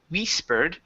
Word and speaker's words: whispered: about the word whispered give me a short I here instead of we whispered it's it wit whispered with hook there you go hey